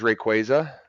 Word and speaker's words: Rayquaza: Advance SP right there yeah Green this is Rayquaza and that's how you pronounce it a little keyboard I'm playing Pokemon